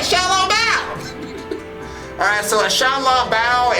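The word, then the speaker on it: 小笼包: Xiaolong Bao!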